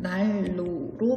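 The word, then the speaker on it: 난로: 따라서 날로의 발음은 날로 발음됩니다.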